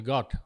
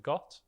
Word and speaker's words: Gott: name is got um but in my accent I wouldn't pronounce the T I'd say my name is and I so when I first started acting I got very tired like a